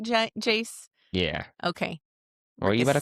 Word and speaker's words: Jace: I honestly thought it was sounding like Jack at first. That's what I was going to say. You pronouncing the A little weird.